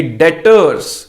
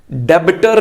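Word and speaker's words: debtors: तो उधार पर बेचने का मतलब आ गया कि जिसको उधार पर बेचा वो हमारे लिए डेटर्स, डेबिटर नहीं, बी साइलेंट है, इट इज डेटर्स।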